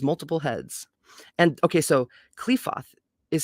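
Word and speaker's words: Qliphoth: up and give trouble the dragon of the cliffhoth raises his multiple heads or the dragon of the destruction raises his multiple heads and okay so clefoth is spelled q-l-i-p-h-o-t-h in consequence practical occult work is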